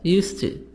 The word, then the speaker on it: used to: D is silent in used to.